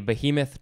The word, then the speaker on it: behemoth: appearance as in a behemoth truck but now maybe i'll go back to saying a behemoth it's it's just be a moth there's no h in the the uh that other